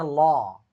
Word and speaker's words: law: Ingat kalau a ketemu w cara bacanya bukan so tapi soah hukum juga sama kan law cara bacanya lo harus bisa belajar mengucapkan kata-kata dengan benar.